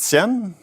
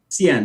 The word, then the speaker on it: Cien: CEO founder of and you pronounce it Cen Cen yeah 100 and CN means